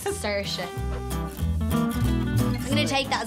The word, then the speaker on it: Saoirse: Personally, I say Saoirse. It's Saoirse. Look, it's just Saoirse. Dad's been outside telling everyone it's Saoirse.